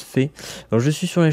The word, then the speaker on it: Fe: Fée, oui, ça se prononce Fée.